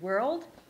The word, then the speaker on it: world: today we are going to learn how to pronounce the word world and solve all those issues around this word